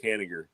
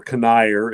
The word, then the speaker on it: Kanigher: Oh, I was just gonna say, I think that was co-created with him and Robert Kanigher. Yeah. Maybe, or Kanigher, as some people say.